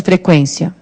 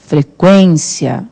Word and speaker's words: frequência: Qual é a sílaba tônica de frequência? Ou frequência é o quen.